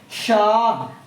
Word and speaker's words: شاہ: ہائے ملفوظی اور ہائے مختفی۔ ہائے ملفوظی وہ ہے جو تلفظ میں آتی ہے، یعنی جو تو پڑھنے میں آتی ہے، جیسے چاہ، جیسے بولیں گے چاہ، شاہ، بادشاہ، ٹھیک ہے؟